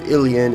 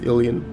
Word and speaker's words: Ilian: military command 8 human now pronounce it as alien cuz it reminds me of Illidan from Warcraft 3 the Zerg have begun